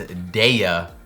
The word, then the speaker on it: Daiya: Next up is Daiya. That's how they say it.